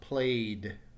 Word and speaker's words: played: in the past tense this becomes played so in this case the final syllable with a final sorry the final sound is a D sound this does not add an extra syllable let's look at the